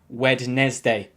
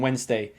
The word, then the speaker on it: Wednesday: for pronouncing it like wednesday no no excuse always remember there are only two sounds in wednesday and the d is silent now with number six